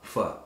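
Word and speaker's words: pho: is a bowl of f f is how it's pronounced yeah pH o it's my favorite thing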